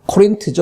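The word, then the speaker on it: Corinth: 코린트죠. 그러니까 영어 발음은 코린트인데요.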